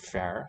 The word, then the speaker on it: fear: You've got the two consonants in the word fair, spelled like fear. The first one, F, is palatal, slender. The R is not. It's broad.